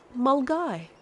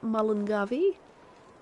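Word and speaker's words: Milngavie: type out for you that my friends is pronounced mulgai not mullingavi small guy and there's like a place called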